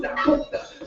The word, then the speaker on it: dåko'ta: I revive the sounds while my name pronounced dåko'ta.